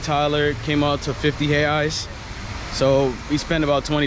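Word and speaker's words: reais: brazilian currency is in hay ice it's spelled r-r-e-i-s but in portuguese you don't pronounce the r so you say it like hey eyes the r sound like an h so hay eyes is like um one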